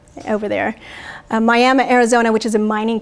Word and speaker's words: Miami: sent back to to Mexico from Miami it's pronounced Miami over there Miami Arizona which is a mining community and many